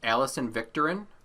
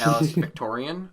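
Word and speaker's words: Alison Viktorin: you this though uh her name is actually pronounced alison victorin not alex victorian although um i will say alice victorian just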